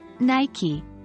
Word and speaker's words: Nike: Nike. It's pronounced as N-Y-K-E, not N-Y-K.